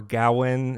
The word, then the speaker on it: Gawain: too familiar with uh sir gawain or gowin as he's as pronounced in the film though i uh prefer gawain so i'm just going to pronounce it sir gawain dave patel plays sir